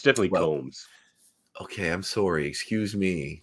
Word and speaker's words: Combs: He could be, but Coombs. I mean, when this show came out, I didn't notice. It's definitely Combs.